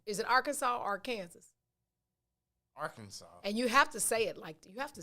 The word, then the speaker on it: Arkansas: say it like arkansas you have to say it with some some some some twang at the end arkansas but especially arkansas and